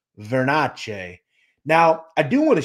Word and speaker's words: Vernace: want to discuss their pronunciation of Bobby glass's last name veres vernes is Americanized if you go to Sicily the pronunciation is verace now I do want